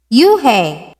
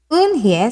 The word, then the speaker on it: Unhei: Everyone tried to say it. Yuhei! Unhei! Unhei! Unhei said her name again slowly and clearly. Soon the kids began to say it better.